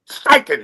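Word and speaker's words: Steichen: STEN. STIKEN.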